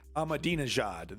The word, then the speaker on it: Ahmadinejad: of a Yankee let's get it correctly here pronunciation yeah Ahmadinejad there we go Ahmadi majad remember this guy does anyone remember this guy